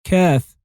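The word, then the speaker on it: كاف: And the 22nd letter is kaf. Kaf can be represented by a corner brace with an S hook on the top of it. And it's pronounced like the K of corner.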